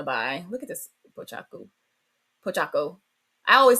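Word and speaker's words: Pochacco: Pochaco. I always say his name wrong.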